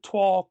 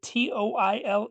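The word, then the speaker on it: toile: But the proper pronunciation is twill like t w a h l not toil, not toily.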